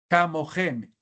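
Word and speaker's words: כְּמוֹכֶם: Si dividimos en sílabas y decimos ka, mo, gem, el kametz rahav que debería estar acá quedó en posición propretónica. Y atención, la regla de las reducciones. En sílaba propretónica abierta, cames o tser se reducen a shevana o sheva móvil.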